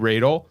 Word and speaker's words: Radel: See, Rael like cradle. That's the biggest once we get over that hump with pronouncing the name.